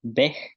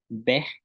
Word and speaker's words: bej: Tenemos, tenemos palabras como bat, que es granizo, bat, granizo, bej, bel, bej, bel, que es camino, que se puede decir de dos formas, bej o bel, que es camino, bin,